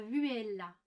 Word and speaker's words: vihuela: N'oubliez jamais que la viole est une variante de la vihuela. Vihuela. Donc ça s'écrit V-I-H-U-E-L-A.